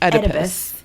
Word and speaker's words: Oedipus: about the Oedipus Oedipus like try to say edible and then just change the end like Oedipus yeah all right we're